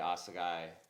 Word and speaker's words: Assegai: More specifically, we're talking about the Maxxis Assegai, and yeah, I'm saying it right because I watched Greg Menard say Assegai like 100 times before I even attempted it, but it's Greg Menard's tire, it's cool.